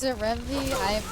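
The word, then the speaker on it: Ren'Py: Renpai is pronounced like senpai because of Python. I always pronounce it Rempe.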